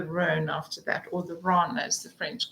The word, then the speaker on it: Rhône: Rhone and the Saône, in French it's Rhône and Saône, but in English we pronounce it Rhone.